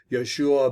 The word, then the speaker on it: Joshua: only caleb and joshua joshua is pronounced yeshua bin nan and that